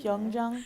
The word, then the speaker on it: Hyojong: pronounce it. Is it Hyojong? Hyojong.